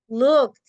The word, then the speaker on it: looked: Looked. Ese suena como una T.